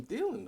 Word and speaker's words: Thielen: Even I don't care if But it's he's covering Adam Thielen though.